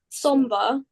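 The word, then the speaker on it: Sombr: Somber.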